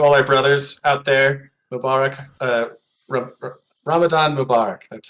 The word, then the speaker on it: Mubarak: Mubarak, Ramadan Mubarak.